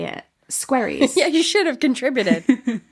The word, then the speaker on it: Squerryes: squaries.